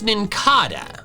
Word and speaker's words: Nincada: Then when I got older, I realized and learned that the whole evolutionary line is based on cicadas.